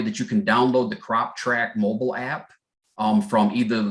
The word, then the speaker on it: CropTrak: instructions tell you that you can download the crop track mobile app um from either the apple app